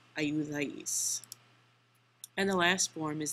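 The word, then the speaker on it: ayudáis: So this new verb ending is AIS, accent on the A, and the new word is ayudais, ayudais.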